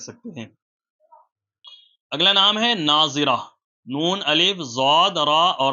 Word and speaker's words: ناظرہ: کو بھی رکھ سکتے ہیں۔ اگلا نام ہے ناظرہ، نون، الف، ضاد، را اور ہا۔ ناظرہ، آپ اس کی اسپیلنگ اسکرین پر دیکھ سکتے ہیں۔ اس کے